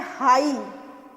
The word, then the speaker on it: high: उसके बाद है हाई, हाई, तो अगेन जी साइलेंट है इसमें, जी जो है वो साइलेंट होता है।